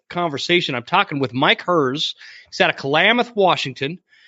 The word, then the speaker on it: Herz: immigrated back from Germany, in German, it's pronounced Herz. Well, when they came over to America, there's no T in it, so no one pronounced it that way. So they put the T in it. Oh, gotcha. And the other part of the family said, we're not changing it, so we're just going to leave it at Herz.